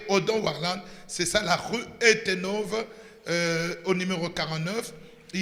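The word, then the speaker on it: Uyttenhove: pour contenir ses enfants, situé sur la rue Etenove, numéro 49. Etenove s'écrit U-Y-T-T-E-N-H-O-V-E, U-Y-T-T-E-N-H-O-V, Etenove 49, à 1090 ou 1090 dans la commune de Gênes à Bruxelles.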